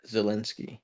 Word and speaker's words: Zelensky: Wait, so is that how you pronounce his name? yeah, Zelensky.